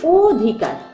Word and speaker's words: অধিকার: কিন্তু এক কিন্তু তারপরেও আমি একটাতে বলছি অধিকার তোমরা এখানে দেখতে পাচ্ছ অটা উচ্চারণ অচ্চারণে ঠোঁট ও এর মত গোলাকৃতি হয়ে আসছে এটি হচ্ছে সংবৃত অ